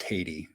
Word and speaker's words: Tatey: So just to say, his last name is pronounced Tatey, Matt Tatey.